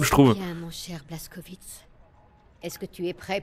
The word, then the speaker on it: Blazkowicz: Ça se prononce Blazkowicz.